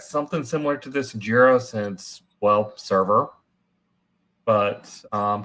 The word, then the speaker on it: Jira: pronunciation Mark of jir definitely J 100% jir yeah jir and I'm jql person